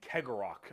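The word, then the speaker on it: Cegorach: guarded by their god named Kegorok, I believe is how you pronounce his name.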